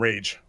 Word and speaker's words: Rage: By the way, it's Rage. You pronounce his name Rage.